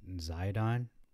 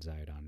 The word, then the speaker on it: Zidon: say and Joshua did to them talking to zidon I'm not zydon this is the the uh water of Maron